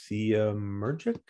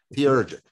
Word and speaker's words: theurgic: And then the proper way to respond to them is we need to invoke egregores that are theemergic? Theurgic. Say, spell it.